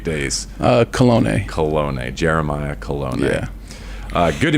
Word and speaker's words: Kolone: Kolone.